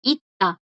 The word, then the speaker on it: 있다: Estas suenan como una D, ¿verdad? 있다. 있다 suena igual que el verbo ser. ida, 있다. Pero se escriben diferente.